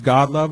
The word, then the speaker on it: Godlove: Speaking of last names, my last name is Godlove. It's spelled just like it sounds, God and love.